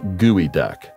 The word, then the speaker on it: geoduck: makarunga first of all it's pronounced gooey duck contrary to what one might think this creep is not related to a duck at all gooey duck or geoduck is a large clam